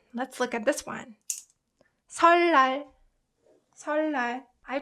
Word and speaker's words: 설날: Rather than saying 을느, it's way easier to pronounce double 르. So that's why it's replaced to 리을. 니은 is replaced to 르 to make it more comfortable to pronounce.